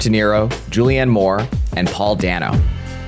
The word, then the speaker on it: Dano: But Paul Dano, apparently Dano, is an extremely famous and beloved modern actor,